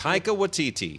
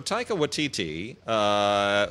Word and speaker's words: Taika Waititi: Can you pronounce it? Taika Waititi.